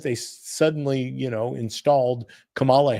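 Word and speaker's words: Kamala: They suddenly, you know, installed Camala Harris uh or Camela Harris, however you want to pronounce it.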